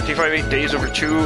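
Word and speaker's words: 358/2 Days: of annoying actually, because 358 over 2, or 358 Days Over 2, that's how that game is pronounced.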